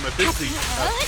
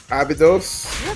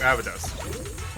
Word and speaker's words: Abydos: said they were from actually from Abyssy. I never could pronounce that right the first time. Abyssy. Finally made it. Ruby, you know the school I'm talking about. Abydos? Thank you, Abydos.